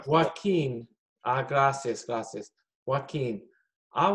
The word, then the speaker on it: Joaquín: A Jochen, ¿qué le gustan? Joaquín se pronuncia. Joaquín.